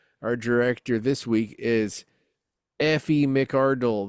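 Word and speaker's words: Aoife: Our director this week is Effie Mardle. That is spelled A O I F E. According to Wikipedia, it's either Effie or ify.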